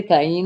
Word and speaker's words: Kanye: Every once in a while, people joke with me and ask if I'm related to Kanye West.